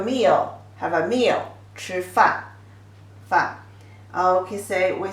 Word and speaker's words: 饭: So if people say 吃饭, 吃饭, eat your meal, have a meal, 吃饭, 饭.